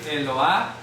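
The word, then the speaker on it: אלוה: Porque ya suena a Este es el mapic, es mapic, señala que la letra e se debe de pronunciar. ¿Cómo lo pronuncia? Eloa. Eloa. Eloa. Eloa. Sí, el mapic hace que la e se pronuncie. Si no tiene mapic, no se pronuncia.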